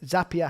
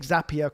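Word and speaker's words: Zapier: create like a zap or zapia that's how they say it zapia happier that's how you say it but if you were to like take zapia create some kind of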